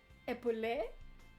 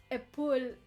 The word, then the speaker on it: épaule: But it's not épaulé. Épaulé means to shoulder something, so like to support something, but épaule is the shoulder. So that E, when he says that, should be silent. So épaule.